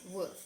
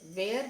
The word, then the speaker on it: were: आप इसे कैसे प्रोनाउंस करोगे? वर, वेयर नहीं, वेयर नहीं, वर, वर यूज करो. वर ऐसा प्रोनाउंस करोगे और ये वॉज होता है.